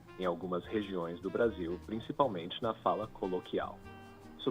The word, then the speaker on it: Brasil: So for example, Brasil, you go U at the end, Brasil, qual, formal, normal. So we don't usually, by default, that is the one of the main or the most common pronunciations for the letter L. Overall in Brazil, overall different accents. So that's the main reason why. If L ends the word, it's U, and you can go with that rule of thumb.